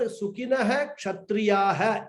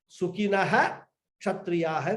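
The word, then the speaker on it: सुखिनः क्षत्रियाः: The Visarga should be completely pronounced. So, Sukhinaha Kshatriyaha we should pronounce.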